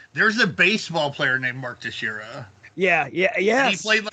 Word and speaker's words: Teixeira: Literally the only reason I know how to actually pronounce his name now. Right, because because motherfucking I used to be Mark Texeria, or some bullshit like that. But Mark Teixeira.